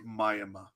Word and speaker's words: Miami: But in Oklahoma, it is Mayama.